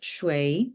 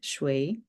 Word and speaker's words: 水: And I like this image because it helps you to remember the shape of this water droplet, and it's pronounced shui, shui.